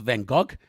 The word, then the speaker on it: Van Gogh: Like, oh my goodness, that Starry Night, Van Gogh. Actually, his name is pronounced Van Gogh, but I think that Americans like to fantasize